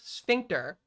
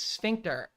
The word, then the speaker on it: sphincter: You're a That's not how you pronounce sphincter. Okay. It's not a German word. Okay. It's not a sphincter. Okay. It is sphincter.